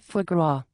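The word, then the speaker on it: foie gras: I am pretty sure it is pronounced for grow.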